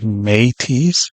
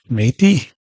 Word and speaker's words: Métis: You see the word M-E means may, like Métis, see? This is right on the key, may. See, word me right here translates to may, pronunciation of it may. Now, directly to the key, once again, we see the word TIS, Métis.